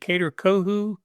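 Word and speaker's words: Kader Kohou: Help me pronounce. Is it Kader Kohu?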